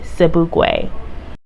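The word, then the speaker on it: Sobukwe: look into his story further his last name is spelled s-o-b-u-k-w-e cebuay i know that the world is familiar with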